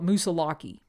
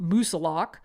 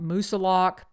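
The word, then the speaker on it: Moosilauke: to note that I used to call it musalaki until I spent some time uh in town with individuals that actually live in New Hampshire and they pronounce it as Mount musilok so that's why I am calling it Mount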